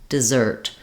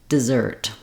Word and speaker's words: dessert: clear vowel de desert here it's reduced D desert to say this correctly you might want to just start on that stress syllable zert and then add your de back